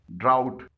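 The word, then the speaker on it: drought: ड्राउट, यहां पर जी एच से पहले यू आया है, लेकिन ये जी एच साइलेंट है।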